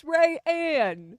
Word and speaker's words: Rayanne: And now I just think of a ray of sunshine and then I Yes.